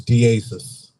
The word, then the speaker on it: Diasiss: How do you pronounce it? Yeah, so it's Diasiss.